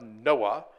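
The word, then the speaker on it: NOAA: uh Association Administration um curiously pronounced Noah um but that's the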